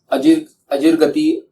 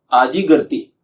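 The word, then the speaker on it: आजीगर्ति: अजिरगति अगर आपको सुनने में मिलेगा वो गलत है। सही करेक्शन ये है कि आजिगर्ती, ये है भगवान शुनहशेप आजिरगर्ती।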